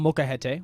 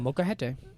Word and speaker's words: Molcajete: This week, we went to El Molcajete, which is a local Mexican restaurant that Ben, my friend, showed me.